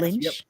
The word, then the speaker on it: Lynch: By Becky Lynch. That's how you pronounce her last name, right? Yes, Lynch? Yep, Becky Lynch.